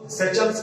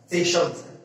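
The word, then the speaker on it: Seychelles: बहुत आप इसको सेचल्स पढ़ेंगे, लेकिन देखो उसका एग्जैक्ट प्रोनाउंसिएशन है सेशल्स, सेशल्स। देखिएगा यूनिक है, शायद यूनिक है, सेशल्स नहीं है, यह है सेशल्स, सेशल्स।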